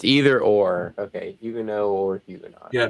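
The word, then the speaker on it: Huguenot: They think it's Hugenot. They're not Hugenauts. Hugenaut. That's typical. I never heard anyone call them hugenauts. It's O like ot in French is hugeno.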